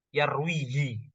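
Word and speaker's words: يرويه: Kemudian fima jar majrur, kemudian ini bacanya Bapak Khairul Arif yarwihi, ya. Jadi bacanya yarwihi dari rawa, ya, rawa yarwi riwayatan, ya, rawa yarwi riwayatan.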